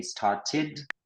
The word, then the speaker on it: started: They started avec ID.